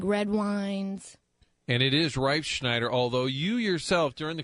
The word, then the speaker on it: Reifschneider: I think the real pronunciation is Reifschneider. Reifschneider.